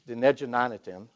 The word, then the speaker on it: Dinéjí Na'nitin: The second book, everyone is afraid to try to pronounce it, but it's really easy. It's Dinejanatim.